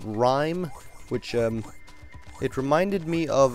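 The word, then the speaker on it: Rime: We saw a game called Rhyme, which it reminded me of the game.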